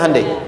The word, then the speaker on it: Hyundai: bikin Honda sini hundai Hyundai kan dibacanya hundai kan sana Honda sini